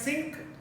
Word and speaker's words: sinc: It is pronounced as Sinc of t, which is mathematically written